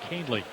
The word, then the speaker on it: Kahnle: Kahnle spells his last name Kahnle, pronounced Kahnle.